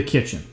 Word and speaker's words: Kitchn: So the first recipe I tried was from the Kitchn. And it's spelled like the kitchen, but without an E.